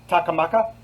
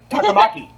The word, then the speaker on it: Takamaki: leading the pack and takamaka takamaki okay stress on the first syllable yes the peppermint second